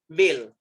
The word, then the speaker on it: veil: See the pronunciation, see my lip sync, see my lip sync, वेल V से, वेल W से, पूरा sound change होता है।